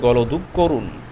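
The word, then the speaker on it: গলাধঃকরণ: এর উচ্চারণ হচ্ছে গলধুক করুন।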